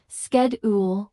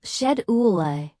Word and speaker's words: schedule: In American business English, schedule is pronounced sked with a hard sked with a sh sound. While shed oola is correct in British English, using it in American